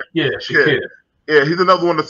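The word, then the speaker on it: Shaqir: Derek, you remember how his name is pronounced? Shakir.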